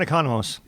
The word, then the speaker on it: Economos: It looks like economics. Yes, John Economos.